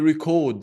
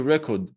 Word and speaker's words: record: Another example, when you record something, do you record the lecture or do you record the lecture? Well, record is the noun. Record is the verb.